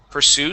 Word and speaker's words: pursue: Pursue, stress at the end.